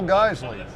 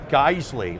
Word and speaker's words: Geissele: our name, first off, they don't pronounce it Geissele, like hey guys, and Lee, like Bruce Lee. All right, they say Geissele, okay? Just like Porsche, it has the E on the end.